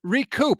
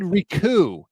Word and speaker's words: recoup: that word recoup yes recoup I had RJ Ooa my friend RJ Ooa from blogging the boys on he said Riku which is absurd I don't know it's